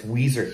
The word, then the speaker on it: Ouiser: uh training off leash louisiana i got miss weezer here's how you pronounce her name she's about 10 months old